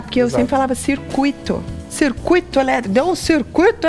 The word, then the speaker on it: circuito: Olha, é muito estranho pronunciar porque eu sempre falava circuito. Circuito elétrico. Deu um circuito elétrico aí. Curto circuito. Curto circuito. É o U é mais forte que o I.